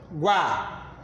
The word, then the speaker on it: água: Quando eu pronuncio a sílaba guá, a letrinha A eu pronunciei com maior intensidade, eu boto o sinal de mais. Logo o U com menos intensidade, boto um sinal de menos.